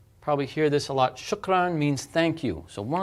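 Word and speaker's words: شكرًا: going to be pleasant shukran but notice when you see this you pronounce that as n this vowel with a noon on it now you may say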